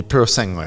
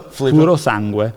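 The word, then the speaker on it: Purosangue: The Pro Segway, I believe no. so it's pronounced. Filippo? Puro sangue. Oh, God. Great, thank you. The puro so song.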